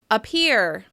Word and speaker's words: appear: Appear. Appear. That's right, the first syllable has a reduced vowel sound. It sounds like It almost seems to disappear underneath that stressed syllable.